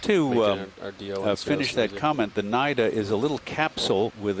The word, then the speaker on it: cnida: cells the feature is called the nida um cnida which the c is silent again and there's a tripod